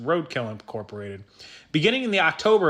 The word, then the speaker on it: RDKL: contract according to john bumstead of rdkl incorporated pronounced roadkill incorporated beginning in the october of 2020 ebay